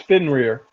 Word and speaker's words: Fenrir: It's Fenrir. Fenrir, yeah. I keep forgetting his. I can't pronounce his name right.